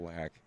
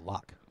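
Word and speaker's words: Laak: there's Lane Flack and Phil lack fil lock well you can pronounce it either way but it's still he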